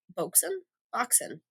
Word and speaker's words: Boxen: Boxen. It's spelled like box, E-N.